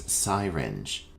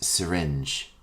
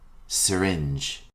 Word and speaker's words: syringe: before your meal our next term is commonly mispronounced as syinge the correct pronunciation is syringe repeat after me syringe a syringe is a magical instrument used to